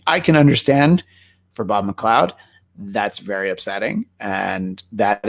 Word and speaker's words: McLeod: It's spelled McLeod. I was like 7 and I didn't know that it was supposed to be pronounced McLeod.